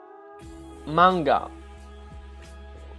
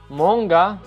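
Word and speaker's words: många: But in Swedish, if you just change one letter, you have manga. Well, that's how you read it, you would assume. But actually in Swedish, this letter is pronounced O, right?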